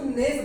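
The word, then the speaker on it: gnash: गणेश, वैसे तो इसमें जी क्या होता है, जी इसमें साइलेंट होता है, इसको नेस बोलते हैं, नेस, GNAS।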